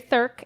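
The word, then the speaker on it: Thuerk: rhymes with jerk. Gary Thurk. Yeah, and that's how you say it.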